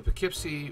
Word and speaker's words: Poughkeepsie: done my research on how this is actually pronounced so i'm going to do the best i can so this is about the poughkeepsie railroad bridge which caught fire on may 8